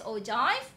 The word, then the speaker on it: ogive: Okay, it's pronounced as ogive.